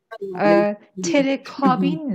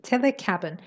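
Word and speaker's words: telecabin: و بعد بازم تلفظها، تلکابین نه، اینو ما تو فارسی میگیم، خب کابن نوشته میشه. اگه میخوایید اون کلمه رو به کار ببرید با تلفظ صحیحش باید بگید تلکابن.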